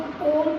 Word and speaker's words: ओम: प्लुत मतलब जैसे आप लोग ओम का उच्चारण करते हैं, ओम, आपको लग रहा है ओ है और माँ है, लेकिन बीच में ऊ जैसा एक वर्ण छुपा हुआ है।